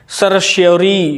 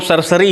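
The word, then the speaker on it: certiorari: सरश्योरी होता है ये, बड़ा अजीब सा इसका प्रोनाउंसिएशन है, इसको हम सरसरी ही कह देते हैं सीधे आसानी के लिए।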